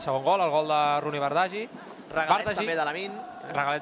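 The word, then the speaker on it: Roony Bardghji: No, mira, m'indica el meu bon amic Marc Andrés, gran professional, que la pronúncia és Rooney Bardghji.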